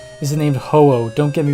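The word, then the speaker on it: Ho-Oh: is based on and in Japanese like hoo it's spelled like h o u o u hoo is its name so I guess and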